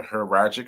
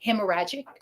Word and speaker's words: hemorrhagic: The second of which was was a heragic stroke. Hemorrhagic.